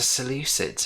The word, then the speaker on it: Seleucids: and twelve playing in red playing as the seleucids who i've now learned how to pronounce properly you would have to say the